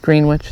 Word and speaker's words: Greenwich: And it is Greenwich, say it phonetically.